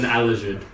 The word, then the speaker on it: Aleszud: And then the spaceship is spelled Aleszud, which is pronounced with a J, I've decided. Wait, the SZ is a J now? Yes, Is it's, it a J noise? it's an Alajud.